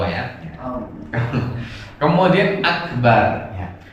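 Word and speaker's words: أكبر: Kemudian akbar ya. Akbar itu semuanya pendek.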